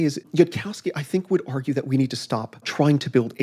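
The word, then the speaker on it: Yudkowsky: Jacowski is how you say his name? Yudkowski.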